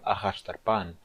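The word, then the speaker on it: אחשדרפן: De qualquer maneira, na palavra ahashtarpan, a sílaba tônica é a última sílaba, é a sílaba pan.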